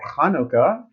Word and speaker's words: Hanukkah: want to wish happy hanukkah or hanukkah we'll talk about that on my live streaming of what's the difference between the and the ha oh that's interesting yeah because you notice it's spelled ch sometimes and h other times tonight live stream with